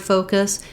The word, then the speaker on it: focus: the word focus is not to use a clear vowel here in the last syllable. You might even think of it almost as having no vowel, kiss, focus, kiss. So there is a little schwa there, or you could use a little I sound like in the word